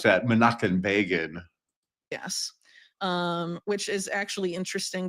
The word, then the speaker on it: Menachem Begin: We pronounce that Menachem Begin.